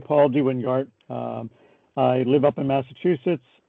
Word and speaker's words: DeWynGaert: So I have as a guest here, Paul DeWynGaert. Did I pronounce your name correctly, Paul? That's correct. Okay, it's sort of a old Dutch pronunciation, right?